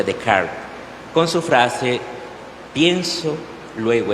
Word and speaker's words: Descartes: este progresismo estaría René de Carl se escribe Descartes pero se pronuncia de Card con su frase pienso